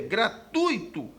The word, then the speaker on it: gratuito: resposta correta item B atenção para uma palavra como gratuito cuja pronúncia está errada O correto é gratuito havendo um ditongo nessa sílaba Ok e isso às